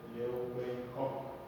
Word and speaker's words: Leeuwenhoek: La descubre este señor que se llama Anthony van Leeuwenhoek, que así se pronuncia.